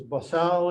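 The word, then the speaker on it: bosal: to call it a the way they pronounce is basal is supposedly the way you're supposed to say it but it's called muzzle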